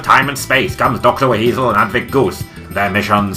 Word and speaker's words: WHeasel: It's pronounced WHeasel, Dr. Garland. No, I don't think so. There's no H in weasel. The H is silent. It doesn't matter. It's just not spelt like that. Look here, my dear. I know how to spell my own name. I spell it with an H, and I pronounce it WHeasel.